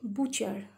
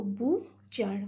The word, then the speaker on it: butcher: See, T is silent here. CH is sounded as cha, ER, char. Okay, here T is silent. So butcher.